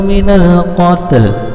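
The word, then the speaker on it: مِنَ الْقَتْل: Wal fitnatu akbaru minal qatl. Cara membacanya ini mewakafkannya minal qat, tetapi ada l-nya sedikit. Minal qatl, minal qatl, minal qatl ya, ikuti minal qatl.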